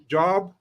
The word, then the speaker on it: Job: It's spelled Job. It's Job. Job.